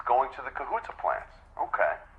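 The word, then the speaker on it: Kahuta: It's going to the Cahoota plants. Okay. Kohuta. Is that uh the correct pronunciation? Am I saying that right? Yes. Okay, great.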